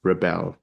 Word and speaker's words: Rebelle: So tell me about your artist name, which is Rebelle. I hope I pronounced that correctly. You pronounce it perfectly.